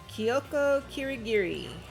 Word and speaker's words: Kyoko Kirigiri: oh so many dreams are getting crushed today kyoko kirigiri you actually pronounced it right it's a miracle well she's